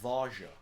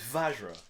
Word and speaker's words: Vajra: It's pronounced Varja. Vajra. It's Vajra.